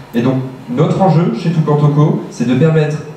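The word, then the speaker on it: Toucan Toco: Je l'ai bien prononcé, Tukan Toko.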